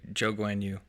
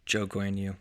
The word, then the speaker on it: Zhou Guanyu: I'm going to butcher his name, and I don't want to butcher the Chinese guy's name. Oh, Yeah. Zhou Guanyu. Wow. Can you say that again for me? Zhou Guanyu.